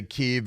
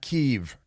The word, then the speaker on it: Kiev: I don't say Kiev. It's Kiev. Just shut up. You know, it's not Paris. It's not Deutschland. And it's not Kiev.